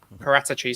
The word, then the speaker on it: Paratici: going to spend money, especially when we've got Paratiki in, I think he said is how it's pronounced. Especially when you kind of got Paratici, sorry.